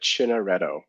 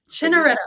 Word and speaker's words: Chiantaretto: We pronounce it Chiantaretto. Chiantaretto. Oh, that's so easy. Ignore half the letters and you got it, right? Yeah, I'm like Chianti with it, like a wine.